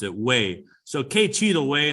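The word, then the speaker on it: güey: well or anybody uh and that's how you pronounce it way so kc the way how that's cool that's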